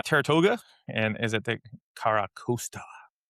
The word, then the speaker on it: Carracosta: Um then we we have the Tirtouga, and is it the Carracosta?